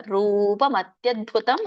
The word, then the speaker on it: ರೂಪಮತ್ಯದ್ಭುತಂ: ರೂಪಂ ರೂಪ ಮತ್ಯದ್ಭುತಂ ಹರೇಹೆ ನೀವು ರೂ ಹೇಳಿದಾಗ ಮಾತ್ರ ಅಲ್ಲಿ ಮತ್ತದ್ಭುತ ಸರಿಯಾಗಿ ಕೂಡುತ್ತೆ ರೂಪಂ ಅಂತ ಹೇಳಿದ್ರೆ ಸರಿಯಾಗಿ ಕೂಡಲ್ಲ ರೂಪ ಮತ್ಯದ್ಭುತಂ ಹರೇಹೆ ವಿಸ್ಮಯೋ ಇಲ್ಲಿ ಎಳಿಬಹುದು